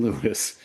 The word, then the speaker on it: Louis: And to this day, everyone in England, as you say, calls him Louisie. Uh, and they laugh at Americans for calling him Lewis, but everybody he knew called him Lewis.